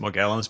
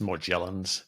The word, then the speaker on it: Morgellons: I pronounce it Morgellons, but it's also pronounced Morgellons.